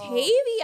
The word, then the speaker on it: Tavy: I'm only saying Tavi cuz I know you said Tavi. No, but when I watched it back, they were saying she said Tavy Baby. My name is Ty Baby. So, it's Tavy. I was mispronouncing your Whatever.